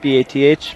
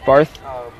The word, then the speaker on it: Bath: believe from bath england i always say it wrong bath england b-a-t-h barth bath england okay mr forrester had a